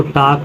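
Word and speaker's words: talk: आया है तो इसको टाक वाक चाक पढ़ते हैं एम से पहले एल इसको काम बाम पाम पढ़ते हैं फिर नेक्स्ट वर्ड आ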